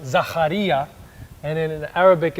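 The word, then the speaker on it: Ζαχαρίας: both cultures so in Greek in Greek it's pronounced zacharya and in Arabic it's Zakaria oh how cool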